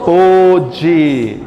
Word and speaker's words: pôde: É como que eu digo? Como você pôde. A gente diz como sinônimo de podre, né?